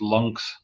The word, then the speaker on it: Lynx: to the lynx guys which they pronounce lungs lungs yeah that's how they pronounce it yeah yeah yeah but